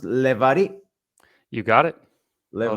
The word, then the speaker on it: Levari: Now, Ariel, is your last name pronounced Levari? You got it. Well Levari, done.